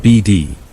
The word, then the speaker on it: Bead: I'd have never heard the strange story of the Bead Ranch. Pronounced BD.